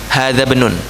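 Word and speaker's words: هذا ابن: Hamzah apa? Hamzah wasal. Berarti bacanya gimana? Hadzabnun. Begitu ya bacanya.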